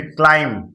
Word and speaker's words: climb: फिर क्लाइम, क्लाइम, क्लाइम लिखा है CLIMB, तो एम के बाद भी क्या रहता है, साइलेंट रहता है, गेट इट। तो क्या हो जाएगा, क्लाइम, क्लाइम यानी क्या होता है,